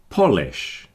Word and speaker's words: polish: Polish. Now this word has two pronunciations really.